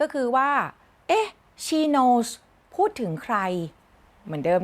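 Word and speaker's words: Knowles: คำ ว่า She Knows Knows มัน ไป พ้อง เสียง กับ นาม สกุล Beyonce Knows ค่ะ สะกด ต่าง กัน นิด หน่อย แต่ ออก เสียง เหมือน กัน หลาย คน ก็ เลย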